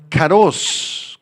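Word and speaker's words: כרוז: esta palabra pregonero es la palabra aramea caros caros con acento en la o y z y describe a un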